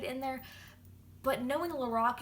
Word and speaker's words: Lorac: on we have the lorac I mean lorac say it like Lorax you know like I'm The Lorax and I speak for the trees that's not what I